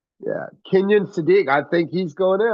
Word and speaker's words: Kenyon Sadiq: no, I think it's the Kenyon Shadiq. Or did I say his name right? Kenyon Sadiq. Yeah, Kenyon Sadiq.